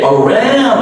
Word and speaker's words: around: Okay, around. This OU is an ow. Ow, like we pronounce it, ouch, like it was an ow.